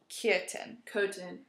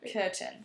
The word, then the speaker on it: Köthen: So Köthen. So kind of like curtain, but obviously not. Right. Yeah. Köthen. Like if you say curtain, but you remove the R, kind of like that.